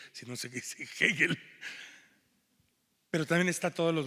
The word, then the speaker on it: Hegel: de Hegel, pero que todo el mundo en la cárcel llama Hegel, y Revueltas les grita a todos que no se dice Hegel, sino se dice Hegel.